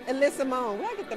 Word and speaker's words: Ella Sumone: But we're here with Alyssa Monet. Did I say it right? I said it wrong. Alyssa Monet.